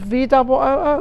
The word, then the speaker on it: VU: VOO, right? VU. Oh, VU. That is correct.